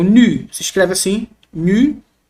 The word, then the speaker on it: nu: Ele é o nu, se escreve assim, nu. No português, nu, representado por nosso N, como na palavra nada.